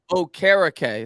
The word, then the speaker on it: Okereke: Okereke. That's how it's pronounced. Okereke. That's right. Okereke. Jake Arthur told me it's like carrot cake, so I should have remembered that.